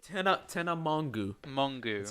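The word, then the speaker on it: Mongeau: Mongu. That's how you pronounce.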